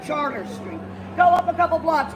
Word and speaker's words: Chartres: I'm standing on not Chartres Street, but Charter Street.